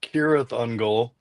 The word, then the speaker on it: Cirith Ungol: And I said, "No, because if we did, we would have pronounced our name correctly like it's supposed to be in the book. It's supposed to be Kirath Unul."